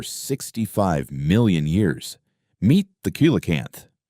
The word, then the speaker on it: coelacanth: Meet the coelacanth, pronounced Coelacanth.